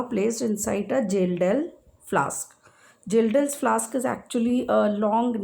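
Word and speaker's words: Kjeldahl's: So nitrogen of coal sample is estimated by Gildel's method. Here K is silent. We call it Gildel's method.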